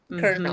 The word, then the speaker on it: colonel: Colonel. Mhm. Very good. Oh, she spelled it like a kernel of corn and not like a colonel in the Marine Corps.